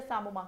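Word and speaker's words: psammoma: calcifications are also present what do you mean by samom the p is silent the samom calcification is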